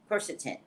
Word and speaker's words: quercetin: you to get is i'm gonna pronounce it wrong quentin quirkton quercetin quercetin um this particular bottle i